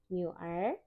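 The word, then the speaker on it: 女儿: Nah, nomor 3 ada kata nyuer. Jangan lupa nadanya 3 dan 2, kita bacanya seperti oh ya, nyuer.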